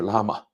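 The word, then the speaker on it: Llama: 克伯格自己念的是拉玛，对吧？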